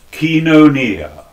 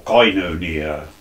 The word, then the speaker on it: koinonia: Basil the Great employs is the word koinonia, or koinonia, if you prefer to pronounce it that way, meaning communion, fellowship.